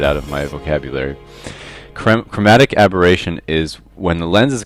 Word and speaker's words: chromatic aberration: I pronounced this incorrectly in the last video, so let me take this chance to say it's chromatic aberration, and I'm so used to saying abrasion that I can't get it out of my vocabulary.